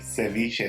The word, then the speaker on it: ceviche: Ecuadorians famous shrimp ceviche or as it is pronounced in Spanish ceviche become a doughnut coming up to make ceviche de camarones you're using two pounds of shrimp